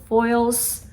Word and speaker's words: Foyles: And oh my god, like, you'll see, but there was this one particular bookstore in London, I believe we pronounce it Foyles.